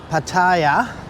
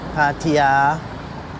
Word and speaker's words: Pattaya: So I would have thought once you got out of Pattaya, uh Pattaya, I've got to get that right pronunciation. Pattaya.